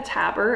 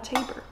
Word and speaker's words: Tabor: me damien or dominic i get tapper it's tabor and i have an